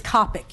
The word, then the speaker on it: Kopich: It's Kopich. You were very close. You pronounced it phonetically.